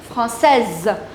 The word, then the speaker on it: française: Now, in order to make it feminine, you'll add E and the pronunciation will change into Française. Here S will not be pronounced, here S will be pronounced.